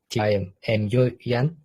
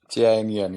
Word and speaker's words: TIMUN: Okay, the first question: who can participate to TIMUN? Oh, sorry, how to pronounce it correctly? TIMUN, yes, TIMUN. Not Timun, yes, TIMUN, yes, right.